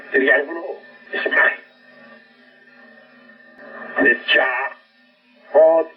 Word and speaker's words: Hod: Y a Hod, se escribe H-O-D, Hod, cuerpo astral.